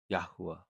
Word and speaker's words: Yahuah: Hey is a soft h sound and at the end of a word it often breathes out as ah.